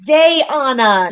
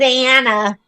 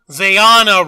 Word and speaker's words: Zayana: It's Zayana, not Zayana. Zayana Rose, Zayana. I'm an Anna.